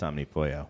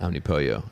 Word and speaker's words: Omnipollo: And they said it's Omnipollo, like the all-encompassing chicken, like that concept.